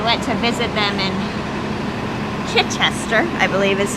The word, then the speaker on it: Chichester: We went to visit them in Chichester, I believe is how you pronounce it. Alec, correct me. Chichester. Chichester.